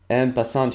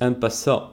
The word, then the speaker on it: en passant: En passant, you don't say the T at the end. A bunch of Englishmen. Well, actually, as far as I understand, the correct pronunciation is en passant or something like this.